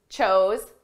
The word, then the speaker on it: chose: Choose, chose, chosen. Notice the pronunciation difference between our base verb, choose, and the past and the participle. Choose, chose. Oo, oh.